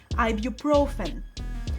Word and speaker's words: ibuprofen: You might reach for this common medicine, ibuprofen. This one has a few tricky spots, but a common one is stressing the wrong syllable. The stress is on the third syllable, ibuprofen.